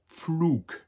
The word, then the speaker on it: Pflug: The next one is an agricultural term, der Pflug, plow.